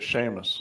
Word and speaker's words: Seamus: Was it Seamus?